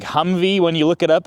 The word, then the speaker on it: Humvee: High mobility multi-purpose wheeled vehicle or the Humvey. Now, on my videos, I usually spell it H u M V E cuz it sounds like Humvey when you look it